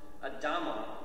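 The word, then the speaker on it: אדם: And so, essentially, it's from Adama we get Adam. We pronounce the name Adam.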